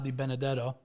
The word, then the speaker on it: DiBenedetto: I'm DiBenedetto, aka the, and you're listening to Growing Up Italian Podcast. This is the Growing Up Italian Podcast, and we are here today with our friend DiBenedetto.